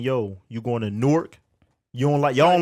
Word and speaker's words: Newark: So nah, yeah, I'm from Newark, New Jersey.